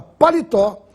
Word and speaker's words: palitó: uma palavra paroxítona e a palavra palitó tem a sílaba mais forte na última tó e é portanto uma oxítona vamos ver as